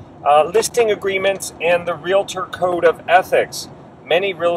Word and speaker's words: realtor: realtors realtors okay and make sure when you're working with someone who says they're a realtor that they're pronouncing it properly realtor some people may say i'm a real lelator i'm a real later you know so you